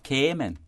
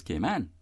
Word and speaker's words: Cayman: town for example it is often mispronounced off is often said K amen have you noticed that mm-hmm so I'm not gonna say it again for that and what people say that some people from overseas claim to perceive that we native-born came onions and other residents pronounce the name in various and sundry ways other than the customary correct way that we actually say it that is gay man they seem to hear